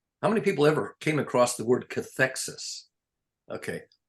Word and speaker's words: cathexis: CATHEXIS, cathexis.